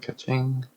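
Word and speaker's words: Kuching: And Kaching. And that's how you pronounce it, but yeah.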